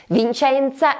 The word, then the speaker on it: Vicenza: And in this case the missing syllable is the second one, or ZA. Vicenza is a little gem,